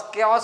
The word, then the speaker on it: chaos: जैसे 'chaos', जिसे 'ka-os' पढ़ा जाता है।